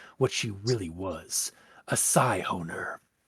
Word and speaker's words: Scyhoner: she really was, a Scyhoner. Or as I mispronounced it when I was first reading the story, a Siphoner. Which, I'm not gonna lie, sounds way better than Scyhoner, but that's just me.